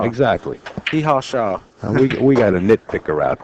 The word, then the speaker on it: Shaw: They said that I was saying Jason Shore's name wrong. Shaw. Sure, yeah. S-H-A-W. Well, Yeah. you got that accent. Well, what do you call him? Jason Shaw. Jason Shaw, huh? Yeah. Like S-H-A-W. hee-haw. Yeah, hee-haw. Shaw.